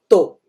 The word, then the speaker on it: tô: abreviação desse estou é tô. Esse tô, obviamente, a gente vai pôr acento circunflexo. Então, é o caso em que eu não vou usar a pronúncia U, né? Eu vou usar a pronúncia O, ok?